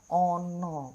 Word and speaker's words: ana: Bukan Ana nggih membacanya. A di sini berubah menjadi O, menjadi ono, karena ono jika di dalam bahasa Indonesia adalah ada.